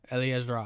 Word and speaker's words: Eliezra: I think Eliezra. Eliezra. Eliezra? That's how she pronounced it on our show.